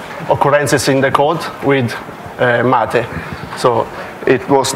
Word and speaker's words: MATE: will start with pronunciation it would be hard for non-english speaker because it's Matty the name come from South America and I up the